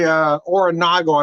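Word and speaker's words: Oronogo: Oronago, I believe, is how you pronounce the town.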